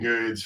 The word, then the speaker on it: Goode: and uh you know the E is silent and good and so